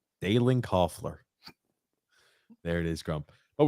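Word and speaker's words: Kuefler: How do you pronounce that? Dalen? What is that? Coughler. Coughler.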